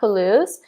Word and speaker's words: Palouse: to know how to write this word maybe Palouse claudio maybe yeah try telling him I said yes Zeus it's a I'm ready to welcome yeah Claudio the Palouse we say the Palouse and I can maybe find a picture of